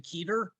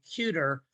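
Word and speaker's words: Kueter: and brands about ben keter that he's committed to iowa for both sports so i will tell you this i pronounced his name cuter two months ago when i was doing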